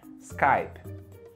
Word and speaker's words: Skype: gente falando Skype Skype né enfim mas a pronúncia certa no inglês americano é Skype Skype repeat with me Skype alri muito bem